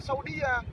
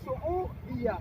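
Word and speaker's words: سعودية: Kalau Ibu dan Bapak lihat tulisan Arabnya Sin, Ain, Waw itu nyatu ya, sehingga bacanya bukan Saudia, Saudiyah. Paham? Sehingga bacanya Saudiyah ya.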